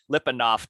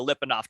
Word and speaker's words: Lyapunov: right so this this topic is called uh lipandoff time and it's spelled l-y-a-p-u-n-o-v and that was a is a